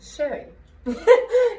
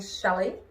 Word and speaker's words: Sherry: say my name because people think i'm saying shelley they think i'm saying share we with a w um shelley with elves